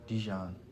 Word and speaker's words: Dejon: say this came for Dejon's doing for us. Yeah. So, is it or Dejon? Djon. Djon. Okay. Cool name. There's Yeah, there's lots of ways to say my name, you know.